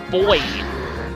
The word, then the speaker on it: buoy: in the water as boy even though it's spelled with a u we pronounce it as boy um probably from buoyancy